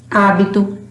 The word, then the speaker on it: hábito: Por exemplo, no início de palavras, por exemplo, ela não tem som. Hoje, hábito, Helena, No final de palavras, ela também não tem som.